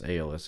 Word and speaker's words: Aeolus: It actually doesn't sound as recessed as the Aeolus did, which I've since learned it's Aeolus, at least that's how Zach pronounces it.